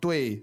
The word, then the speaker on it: 对: So this 对 is fourth tone, and it means towards, right?